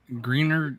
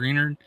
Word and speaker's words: Greenard: like about Turner now is like uh green Greener is that he's pronouncing that greenard yeah he can move in and play the